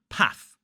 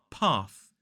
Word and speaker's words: path: so in the north somebody may say the word path path with a short a vowel sound whereas I would say path path few examples bath